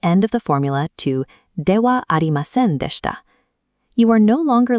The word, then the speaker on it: ではありません: Success with this pattern depends on three mechanics: pronouncing the particle as wa, dropping the na from adjectives, and choosing the ending that fits your formality needs. Mastering Dewa Arimasen provides an early look